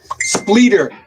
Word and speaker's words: Spleeter: Spleeter. Spleeter. That's it. Yep. Yeah. Spleeter. Like Skeeter from Doug. Doug Funny. Skeeter. Spleeter. That's how I remember it. There you go. That'll work. Yeah. It rhymes.